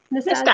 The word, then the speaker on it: Nastasia: Is that how you say her name? Nastasia. Nastasia. Yeah. Yeah.